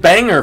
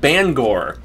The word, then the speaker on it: Bangor: benefits well i've i i called it banger for the longest time and then you hear people in maine and they call it bangor well i've heard bangor